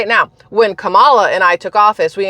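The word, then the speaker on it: Kamala: I can guarantee you it was pronounced the way the Indian uh Community pronounces Cala yes there we go yes Camala anyway that's I saw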